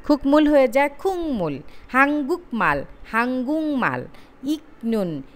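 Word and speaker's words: 국물: যেমন এখানে আমরা উদাহরণ দেখি, খুকমুল, খুকমুল হয়ে যায় খুংমুল, হাংগুক মাল, হাঙ্গুং মাল, ইকনুন, ইংনুন, ভাংমুল গুয়ান, ভাকমুল গুয়ান, এটা হয়ে যাবে ভাংমুল গুয়ান।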